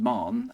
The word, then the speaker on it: Mahon: won by supporters of Mahon. Okay, so there's been a oh, it's just Marn. I keep getting that wrong. Sorry, WGB. Marn. Yeah, I mean, why pronounce it how it's spelt, right?